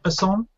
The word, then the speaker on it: Besson: Is that how you pronounce it? Besson?